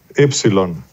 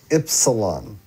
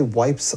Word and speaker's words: Ypsilon: Go ahead and tell everyone how it's pronounced. Ypsilon. Ypsilon. I always want to say wipes.